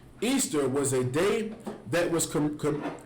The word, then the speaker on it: Ishtar: It says, Ishtar, which is pronounced Easter, was a day that